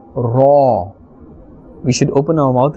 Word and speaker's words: ر: And we are pronouncing this letter with a fuller sound. We will not say Re or Ra, but a fuller and a thicker sound, Ra.